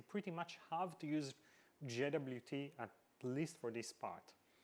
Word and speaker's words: JWT: about popular formats obviously JWT or jot as it's often pronounced is hands down the